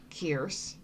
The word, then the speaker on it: Kerce: to pronounce her name she says it's Pierce but with a K kerce uh engraves how they